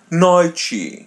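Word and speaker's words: noite: Noi. Repeat part after part. No chi. No chi. Noi. Noi. So te e are pronounced as chi. and the letter I is pronounced as Yi.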